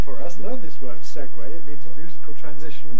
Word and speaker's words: segue: another neat segue for us learn this word segway it means a musical transition from one tune